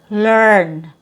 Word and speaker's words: learn: So now the vowel sound, instead of a long E sound, we have a schwa+r sound, like in this word lur, because we have that sound, lur, learn, and convert, convert.